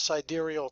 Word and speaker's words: sidereal: real fast, like they'll come up with this sidereal time, which is actually the correct way to pronounce it.